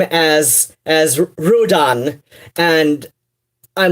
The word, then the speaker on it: Ruadhán: And, like, I don't know, like, even in person, like, yes, it's properly pronounced, Ruadhán, or, I know a lot of people put a bit more emphasis on the second syllable, which I did not